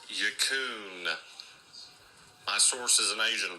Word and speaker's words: Huckin: It's pronounced Huckin. My source is an Asian person. Huckin. My source is an Asian person. Well, point the fingers at Will Schuster because he said it was Equin.